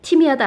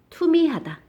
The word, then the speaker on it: 투미하다: 티미하다 아닙니다. 티미하다 틈이하다 아니고요. 투미하다.